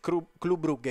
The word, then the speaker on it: Club Brugge: Occhio, perché si dice Club Brugge, io lo ricordo sempre perché verrò bullizzato nei commenti, ma ho commentato il belga e ho conoscenze lì, vi posso assicurare che la pronuncia corretta è questa.